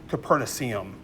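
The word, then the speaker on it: Copernicium: Caperna it's capernicus uh with em. So it's like capernicum I believe is how you pronounce it.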